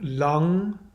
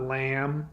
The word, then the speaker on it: Lam: So Om, and then Lang, which is spelled L-A-M. It's not lamb, it's Lang.